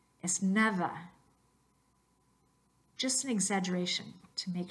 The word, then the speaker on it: nada: Entonces la pronunciación correcta no es nada, es nada.